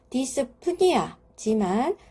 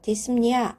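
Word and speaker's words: dyspnea: 뜻하는 용어가 합쳐진 것이죠 두 개를 연결해서 읽어보면 디스 프니아지만 실제적으로 핀은 무음입니다 그래서 우리가 발음을 하지 않아요 디스니아 이렇게 발음을 합니다 호흡이 비정상적이다 호흡이 어렵다 그러니까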